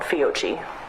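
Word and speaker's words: Fiocchi: live nine millimeter cartridges by a brand called fiogi that's spelled f-i-o-c-c-h-i and you mentioned earlier that you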